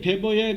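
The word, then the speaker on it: Weber: 이 막스 베버라는데 베버의 그 스페링 보면 W로 돼 있어요. W. 근데 우리나라의 젊은이들 특히 뭐 아나운서들까지 그러는데 원래 BMW라 그러죠. 사실 이게 독일의 W자는 배로 발음된다. 베버.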